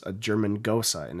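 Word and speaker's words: Gose: berliner vice another is a gosa and i had to learn how to pronounce that at the beer festival this last year it's spelled g-o-s-e okay so i was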